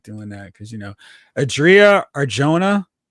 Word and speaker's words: Adria Arjona: like doing that because Adria Arjona, I believe is how you pronounce her name.